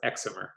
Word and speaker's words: excimer: they're called excimer lasers short for excited and dimer and pronounced excimer so let's go through